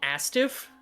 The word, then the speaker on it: ASTF: You mean Astiff? Oh, is it pronounced Astiv, actually? I Yes, haven't heard it they are out called loud. Astiff movie. I haven't heard it out loud in a while. The creators I- call it Astiff movie.